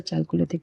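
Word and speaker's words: Chalcolithic: तो देखिए जो कॉपर एज सिविलाइज़ेशन है ना कॉपर एज को हम लोग चैलकोलिथिक भी कहते हैं। चैलकोथिक पीरियड चैलकोथिक बोल कैलकोथिक बोल लीजिए। इसकी डिफरेंट प्रोनाउंसिएशन है। इट्स अ कैलकोलिथिक period.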